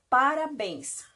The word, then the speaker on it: parabéns: não parabéns olha só esse bens aqui é aonde está a sílaba forte a sílaba tônica portanto essa palavra ela